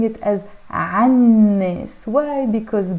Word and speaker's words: عن الناس: In Arabic it's written here as عن الناس, but we're pronouncing it as عن الناس. Why? Because the noon here is a sun letter, so we don't pronounce the L here.